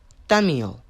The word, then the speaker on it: Thaumiel: today this scp-004 - Jay called your class Daniel that's how you pronounce it special containment procedures the entities currently